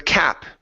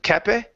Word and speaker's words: cap: Let's go to the cap instead of cape.